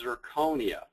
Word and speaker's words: zirconia: start with nomenclature uh it's amazing how many people say it wrong including myself what we're talking about is zirconia okay it's an oxide of